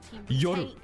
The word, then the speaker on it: Yoru: FNS, can you pronounce Yoru? Yoru.